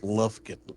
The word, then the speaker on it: Lufkin: I am from a sleepy little town in Texas called Lufkin. Lufkin. Kind of spelled like the tape measures.